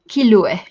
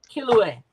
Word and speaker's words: Kilue: I pronounce it like this, Kilue. Kilue. Oh, like Hmm. Hawaiian. Yeah, more Kilue.